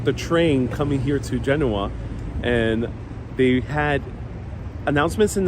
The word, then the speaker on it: Genoa: I'm going to be mostly referring to as genua in English and uh one this is a